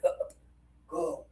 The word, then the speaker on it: cup: For a lot of students, they don't really make the pressure, so they accidentally say this one. So, we got to make a habit of adding some pressure in our voice to be extra clear that the word is cup.